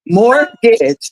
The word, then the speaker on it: mortgage: oh I got a mortgage I see look at you look you say mortgage look at you hey I got a mortgage morgage two syllables not rent but more